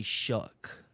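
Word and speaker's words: Shough: Tyler Shook. Do you I I I I don't understand how his his last name is what? S H O U G H. And you say Shuck.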